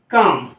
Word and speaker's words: calm: CALM, अब ये क्या है, काम। कहते हैं ना काम डाउन, काम डाउन। तो काम डाउन मतलब ये काम डाउन में जो बोलते हैं काम जो वर्ड है उसमें वो एल वहां पे साइलेंट है।